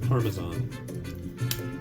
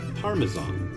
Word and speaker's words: Parmesan: It's Parmesan. And you're gonna be okay, and you're gonna say it right. Yeah, there's certain words that if they're said incorrectly, well, I get a little ornery. And there we go. So say it right, say it with pleasure. Parmesan.